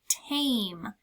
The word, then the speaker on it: tame: Again, I see the silent E on the end. That's a big hint. This word is tame. T-A-M. That E told that A to say its name.